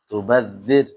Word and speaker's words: تبذر: Nah, tipis ya. Tubaddir. Tubadzir. Jangan ditebalkan. Jangan tubadzir.